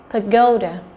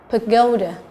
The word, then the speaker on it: pagoda: B, pagoda, pagoda, là trọng âm thứ hai.